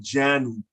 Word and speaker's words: janu: If depending on the letter in the middle, it has to be pronounced on the left side syllable, jen, and the right side syllable, nu. You hear the N in the nu part of the word and the jen part of the word.